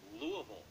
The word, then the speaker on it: Louisville: The E is silent, though. Spokane, Washington. Spokane. And? Louisville. It's not Louisville. No. What? It's Louisville.